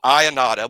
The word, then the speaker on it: Ionata: But Joe Ionata, we have been pronouncing that correctly the whole time.